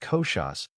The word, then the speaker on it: koshas: Known in Sanskrit as kosas, pronounced koshas, which means layers or sheets of existence.